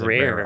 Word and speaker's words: RAR: it to be called just like a raw archive it's rare archive yep dang it anyways